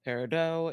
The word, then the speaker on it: Paradot: It's your madam Ava here and I'm going to be playing a paradot. Parido if you care about the actual pronunciation, aka Perry.